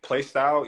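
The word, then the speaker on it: Plaistow: You came up in Playstyle, East London. Is that how you say it? What's no, it? it's How you say plaster. It's plaster. Like Newham.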